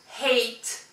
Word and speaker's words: hate: peut aussi mettre eight hate hate ça veut dire détester to hate ça se prononce plus ou moins comme le hate avec le H en plus mais ça s'écrit pas